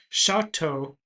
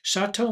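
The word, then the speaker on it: Choteau: He was born in Indiana, but he moved with his parents as a child to Chateau, Montana, and I think I'm pronouncing that correctly, Chateau, Montana.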